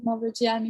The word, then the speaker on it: Mavrogianni: It's Mavrogianni, but you can pronounce it Mavrogianni because that's how it's spelled.